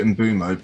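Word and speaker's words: Mbeumo: Uh, Embuo. Am I close? I think he he likes to he likes to pronounce it in bumo, but Embo.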